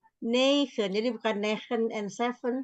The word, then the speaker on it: negen: Negen. Negen. Sama dengan zeven, E-nya dibaca 2.